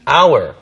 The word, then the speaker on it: hour: 우리가 1시간, 2시간 할 때도 hour. Right. 근데 철자는 H인데 발음은 그게 묵음이 되기 때문에 그렇죠. 모음 발음되죠.